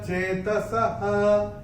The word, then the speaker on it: चेतसः: और चौथे चरण में विसर्ग जो आ रहा है चरण की समाप्ति पे, इसका उच्चारण विसर्ग चरण की समाप्ति पे जब आता है उसका उच्चारण केवल और केवल ह ही होता है। ते विदुर्युक्त चेतसः, ऐसे करके इसका उच्चारण होगा।